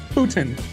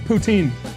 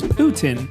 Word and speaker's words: poutine: I just found out that's the way you pronounce it, too. Putin. I always said poutine. Now, I understand this is a French dish, and the correct pronunciation is Putin, but as an American, is it really wrong